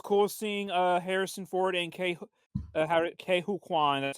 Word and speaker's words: Ke Huy Quan: It was cool seeing Harrison Ford and Ke Huy Quan.